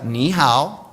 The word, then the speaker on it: ni hao: And the last part, how. So it's not how. It's not Australia. So let's try it again. How. How. So let's put that together. Ni hao.